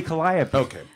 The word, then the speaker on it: Calliope: you have trouble pronouncing halt up by E okay that's supposed to be Calliope I guess a Calliope